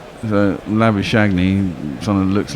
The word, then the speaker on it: Labuschagne: But the way it's spelt and the way you say that in English, the G-N-E would be silent, Shagney. So Labuschagne, someone that looks like an Englishman.